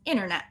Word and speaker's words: internet: t will be silent so for example internet internet it's not a stop t it's not in it right it's internet there's no t same thing painting it's